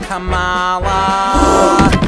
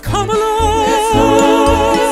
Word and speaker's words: Kamala: You dare pronounce her name Kamala. It's Kamala.